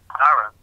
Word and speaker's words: Aaron: That's why Aaron has two A's in his name, but you only pronounce one A, Aaron, but there's two A's there, telling a story.